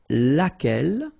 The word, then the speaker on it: laquelle: And then the feminine form, so singular, we saw it laquelle, okay? So basically same rule, Q-U, U is not pronounced here.